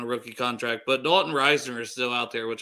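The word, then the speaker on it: Risner: back they made sure they took Reisner first or Reasoner I think is how it's pronounced but yeah yeah so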